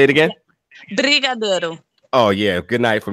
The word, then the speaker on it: Brigadeiro: And she says, the Bengino or Benjano. Am I saying that right? No, I don't even know what that is. Let me spell it for you. Let me spell it for you. Okay. Brigadeiro.